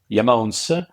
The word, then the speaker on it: IAMONES: comes from the remote and that's why the pronunciation is yamon and um why that name not just because